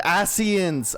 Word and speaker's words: Ascians: How's that actually pronounced? Ascians? Ascians? Oh, they're the Ass Men. The Ascians!